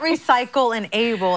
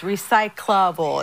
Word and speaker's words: recyclable: she's saying a recyclable that's not how you say it a recyclable it's not recycle and able it's recyclable it's like all smushed together and you lose a syllable okay we had a